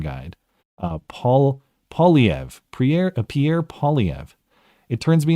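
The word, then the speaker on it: Poilievre: Pierre, dude, I'll never be able to pronounce it, but thank you for the pronunciation guide. Polyev.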